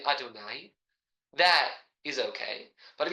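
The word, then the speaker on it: אֲדֹנָי: For purposes of learning, we'll say the way that we generally pronounce it, namely Adonai.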